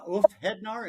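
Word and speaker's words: Úlfheðnar: So the song Ulf Hednar, if I'm pronouncing that right?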